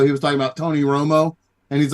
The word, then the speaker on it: Romo: was talking about Tony Romo and he's like it's not just a coincidence that his name rhymes with homo and he would just